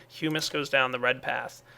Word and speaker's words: humus: so there we go humus that's right I'm I'm kind of pronouncing it right now humus is the correct pronunciation uh I'm going to